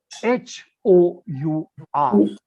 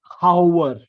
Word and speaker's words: hour: sound H now the the problem is h o u r how do we pronounce it our we don't we don't say how yes we have to say hour hour now that H we have to swallow how do we know